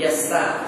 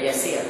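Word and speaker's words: Yasar: Malik bin Yassar, siapa ada kitab apa betul ejaan, dia bukan Yasir, dia Yassar.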